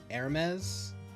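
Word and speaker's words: Hermès: So you know the brand, was it Hermes? The H is silent, I think.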